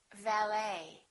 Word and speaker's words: valet: The silent T very frequently happens in words that are originally French. For example, the word ballet that has the ET ending, and in the French language, the T is almost always silent, so English speakers pronounce it the same way.